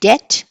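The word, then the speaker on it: debt: ఇన్ ఉన్నా కూడా subtle D ఈ బి టి డెట్ డి ఓ యు బి టి ఇస్ డౌట్ okay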